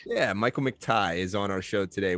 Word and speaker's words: McTighe: out for himself michael mcteek is that how you say the last name it's pronounced mcti like what you wear around your neck yeah michael mctighe is on our show